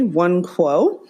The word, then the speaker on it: Nwankwo: And yes, you did pronounce the last name correctly, Nwankwo.